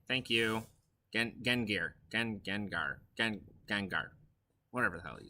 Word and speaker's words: Gengar: Gegnar, that's right. Thank you. Gengar.